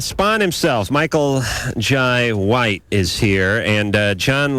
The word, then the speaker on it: Jai: Michael Jai. How do you pronounce that? Jai? Jay? You got it, Jai.